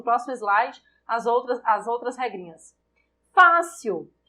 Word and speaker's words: fácil: Fácil é acentuado porque eu tenho uma paroxítona terminada em L. Nível. Qual é a sílaba tônica de fácil? Fá. Eu tenho uma paroxítona terminada em L. Essa é a justificativa para acentuação em fácil.